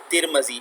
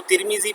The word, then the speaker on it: ترمذی: کتاب ہے جامع ترمذی، اس کو ترمیزی پڑھتے ہیں، ترمیزی یہ لفظ تلفظ ٹھیک نہیں ہے، اس کو پڑھتے ہیں ترمذی، میم پر زبر پڑھیں، ٹھیک ہے۔ 2-3 تلفظ اس کے ہیں، ان میں سے ایک صحیح تلفظ ترمذی بھی ہے، تو آپ ترمذی بھی پڑھ سکتے ہیں اس کو، لیکن ترمیزی نہیں پڑھ سکتے، آپ میم کے نیچے